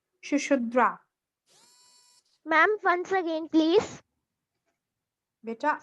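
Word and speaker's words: Sushruta: Ma'am, Yes, ma'am, can you please pronounce the doctor name? which name? Doctor name. Shushudra.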